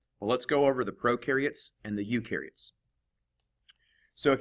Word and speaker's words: prokaryotes: Let's go over what prokaryotes are. First, I use the little mnemonic that pro rhymes with no.